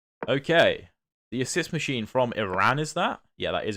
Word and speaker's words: Iran: The assist machine from Iran. Is that Yeah, that is Iran. I'm going to pronounce it properly. I'm not going to say Iran. It's Iran.